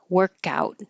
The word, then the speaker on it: workout: Teamwork for um a single word workout. The noun has stress on the first syllable. Workout and you will hear